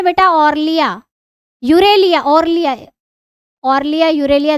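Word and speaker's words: Aurelia: Jellyfish, jellyfish, jellyfish का दूसरा नाम है बेटा ऑर्लिया, यूरेलिया, ऑर्लिया, ऑर्लिया, यूरेलिया, जो आप प्रोनाउंस करना चाहें। ऑरेलिया, यूरेलिया नहीं, ऑरेलिया, ऑरेलिया, ऑरेलिया बोलते हैं इसको, याद रखना, पूछ लेते हैं परीक्षा में।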